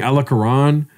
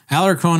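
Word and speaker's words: Alarcón: Everyone's saying Alarcran. That's so weird. I always think Alarcon is a name I feel like I've heard before I met you.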